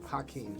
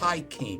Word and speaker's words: Hakim: Hakim. Yeah. Hakim. Yep. Spell that for us.